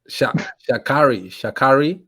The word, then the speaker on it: Sha'Carri: Sha'Carri Richardson.